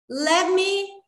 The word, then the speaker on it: let me: Let me introduce myself.